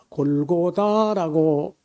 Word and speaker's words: 골고다: 거기 그 언덕배기를 우리가 보통 골고다라고 하는데 이 말은 히브리어가 아닙니다. 원래 아람 나라 완 아람어 시리아어인데 아람어로 골갈타라고 하는 건데 이것이 그저 발음하기 어려우니까 우리 할아버지들이 골갈타를 못하고 그냥 골고다 이렇게 했고요.